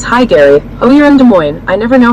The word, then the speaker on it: Des Moines: Lynn says S is silent, LOL.